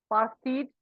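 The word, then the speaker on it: apartheid: okay and this color discrimination was called the pared system so this term pared this a is a little silent pass this syllable ped okay is a special term of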